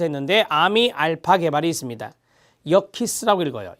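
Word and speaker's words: Yerkes: 역키스라고 읽어요. 역키스.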